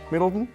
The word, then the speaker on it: Middleton: Did I say that correct, Middleton?